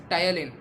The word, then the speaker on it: ptyalin: It is also called as ptyalin. Here letter P is silent word, so we will call it as ptyalin.